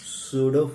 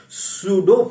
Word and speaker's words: pseudo: नहीं है, सूडो force. हाँ, लिख देते हैं, स्पेलिंग डरते क्यों हो? PSEUDO। कौन सा फोर्स है ये? सूडो force.